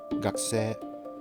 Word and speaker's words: がくせい: yourself not even knowing why you don't need to pronounce that U, but gakuse becomes gakuse.